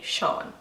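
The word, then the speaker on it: Seán: this name would be SH aw n it's the very same way they would pronounce that name but this is the traditional Irish way to say Sean Dwain this is actually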